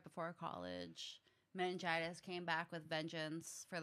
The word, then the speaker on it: meningitis: So before we went to break, we were talking about you having meningitis.